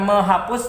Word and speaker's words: menghapus: Nah, ketika kita tambah awalan me, bukan menghapus jadinya ya, tapi menghapus. Menghapus. Nah, nampak ya? Menghapus. Hapus jadi menghapus. Awalan me-nya bertambah dengan eng. Me menjadi meng.